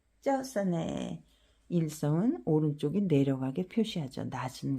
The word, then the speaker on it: เจ้าเสน่ห์: 叫死你，叫死你，叫死你，叫死你，叫死你， 짜오싸네. 일성은 오른쪽이 내려가게 표시하죠. 낮은 곳에서 더 내려가니까. 짜오싸네 매력적인.